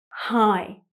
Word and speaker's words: high: It's a silent GH, high. So sometimes GH placed at the end of a word is silent.